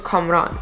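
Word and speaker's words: Kamran: with a k' but I don't like it pronounced Cameron I like the farsi pronunciation which is comm wrong like I like the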